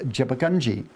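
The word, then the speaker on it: Djabugay: But the proper name for those people are DJUPAKAI and pronounced Jebbugunji. The Jebbugunji people.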